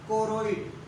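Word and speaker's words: choroid: कोरोइड। यहाँ पर H silent रहेगा। अच्छा, थोड़ा सा इसका मिस्टेक है।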